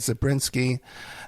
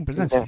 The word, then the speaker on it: Brzezinski: Carter had Zabriskie, and also too Obama had Zabriskie too. Am I pronouncing that correctly? Brzezinski.